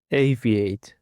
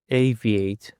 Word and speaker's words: aviate: And for the last word we have aviate. The stress is on the first syllable aviate. Aviate.